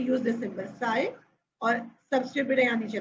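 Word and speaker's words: psi: और सिंबल मैंने आपसे कहा था बेटा पी साइलेंट है, वी कॉल इट साइ.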